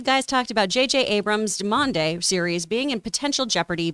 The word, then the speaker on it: demimonde: We looked up the pronunciation. Demimonde.